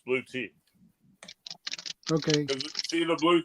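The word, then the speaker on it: Bluetti: awesome it's a blue blue te that's the way it's supposed to be pronounced blue te okay see the blue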